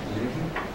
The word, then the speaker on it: Leuven: Zamora studied social and political sciences at the Catholic University of Leuven in Belgium. Did I pronounce that right? Leuven? Lo pronuncié bien?